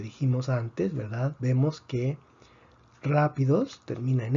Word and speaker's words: rápidos: Rápidos, rápidos. Rápidos tiene 3 sílabas, termina en S. Predecimos que la fuerza debería estar en la penúltima sílaba. No está en la penúltima sílaba. Escribimos el acento de excepción.